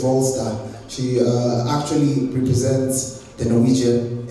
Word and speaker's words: Vrolstad: Her name is Ellen Vrolstad, but because we're in Kenya, we'll call her Vralstad. But I talked to her, I don't like mispronouncing names, so her name is Vrolstad.